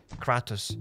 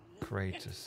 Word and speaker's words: Kratos: I never knew how to pronounce the dude name. Is it Kratos or Kratos? Kratos.